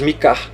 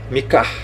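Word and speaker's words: Micah: Em inglês, Mika. Você vai falar o Mi e o Kar, Mika, Miqueias.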